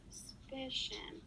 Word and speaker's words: suspicion: that was stressed the suspicion the second sound yeah so the pi in suspicion is stressed excellent work on working